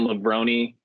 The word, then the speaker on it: Lebroni: Kevin Lebroni, I think that's how you pronounce that. Lebroni, like pepperoni.